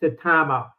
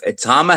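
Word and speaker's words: Itauma: I mean, I think that it's going to be hairy for Usyk because if Atama has a couple more fights, or Itama, I think is how you say it.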